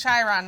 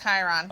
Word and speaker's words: Chiron: enjoy turf uh sheeron it's pronounced chiron not chiron thank you thank you pond